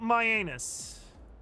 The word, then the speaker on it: Myannus: It's spelled my anus.